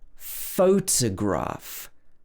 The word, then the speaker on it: photograph: So we have photograph. Here we should stress the photograph. photograph.